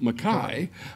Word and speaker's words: McKay: Adam McKay, on the other hand, who we would pronounce it "Mackay," but he is of Scottish- Well, he's not, a hundred years ago.